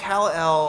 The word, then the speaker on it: Kal-El: Kale like the vegetable. K-L-E-L. Come on. Well, I think He Kal-El.